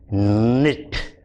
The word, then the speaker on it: knit: Your K is silent. The sound is not kn. The sound is n. So the words that we did in this little story are no, knock, knob, knit, knot, knife, knee.